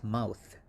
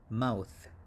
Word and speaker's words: mouth: over here we have a very difficult english pronunciation just like in thin or thing right and the pronunciation for this one is okay so it's mouth mouth mouth and next we have